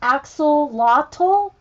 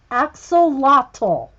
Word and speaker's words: axolotl: into Halloween mode I was getting closer it's pronounced axolotl axolotl thanks cbc axolotl locked all i have to